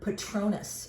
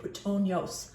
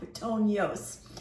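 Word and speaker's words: puttonyos: When you see a Tokai wine and you see the word Patronus, or I should say Pitonios, I was pronouncing it wrong, Pitonios.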